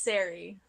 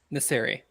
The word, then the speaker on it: Neri: for sure let me it's Neri Neri okay yes like like necessary kind of I need to